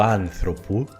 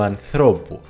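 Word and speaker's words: ανθρώπου: Cuidado con las palabras esdrújulas que terminan en os, porque en genitivo el acento se mueve de la antepenúltima sílaba a la penúltima. Por ejemplo, el genitivo de la palabra oanthropos, el humano, no es tu anthropu, sino tu anthropu.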